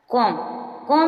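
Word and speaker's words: comb: कॉम means कंगा, इसमें भी silent है।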